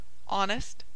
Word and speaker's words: honest: behold exhaust inhabit unhorse H should always be sounded except in the following words air herb honest honor our humor and Umble and all their derivatives such as humorously derived